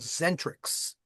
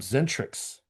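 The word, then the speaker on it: Xentrix: They're called Zentrics. I've heard the name, but I can't say I've ever listened to it. It's spelled as an X.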